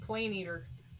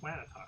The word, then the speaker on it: Planetar: Oh, I was going with Plane Eater. No, Planetar.